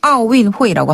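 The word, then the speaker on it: 奥运会: 네, 원래는 아오린피크 운동회 이렇게 좀 길지만 보통은 그냥 줄여서 중국인들도 아오윈회이라고 하거든요. 아오윈회이. 네. 그리고 윈회이는 운동회. 윈동회이를 줄여서 윈회이라고 해요. 비슷하네요. 운동회랑 네.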